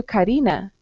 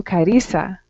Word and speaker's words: Carissa: here in costa rica i say my name is carissa and the person goes oh nice to meet you karina and i say no i'm karissa okay very good okay